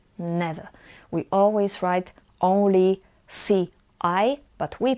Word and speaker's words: ci: Remember that CI we always pronounce as ci. Ci.